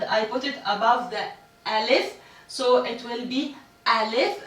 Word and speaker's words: alif: Is the letter A, and in Arabic we pronounce it alif.